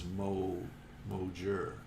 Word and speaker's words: Mohair: Oh, and Mohair says the pronunciation is Mojur.